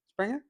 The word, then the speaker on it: Springer: Springer, right? Did I say Yep, that correct? yep.